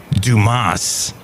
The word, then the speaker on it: Dumas: us the Musketeers it's pronounced Dumas because the guy was